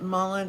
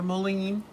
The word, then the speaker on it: mullein: But mullein, I don't know if you all know, you can search it out on the internet, mullein or mullein. It's pronounced 2 different ways.